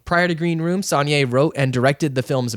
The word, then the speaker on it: Saulnier: Green Room is a horror thriller film that came out in 2015 and is written and directed by Jeremy Saulnier, I think is how you pronounce it, and it's distributed by A24.